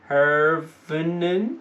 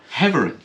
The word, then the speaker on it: Heverin: Emer Herveren. Yeah, we got both slapped over the wrist for pronouncing her name. Slapped over the wrist? Kicked in the hole. Heverin. Go with that, yeah.